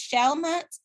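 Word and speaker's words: Chalamet: also like uh timothy i think it's shalmut is how you say his last name i'm not sure i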